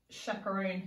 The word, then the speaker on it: chaperone: shimmery chip8 l why our next word is chaperone safe chaperone my mom used to chaperone me